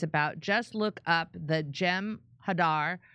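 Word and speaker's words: Jem'Hadar: just look up the gem Hadar pronounced with short A's thank you Ventus Prem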